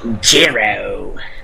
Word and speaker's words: Jiro: No, you have to say it like the ring announcer said it. Jiro.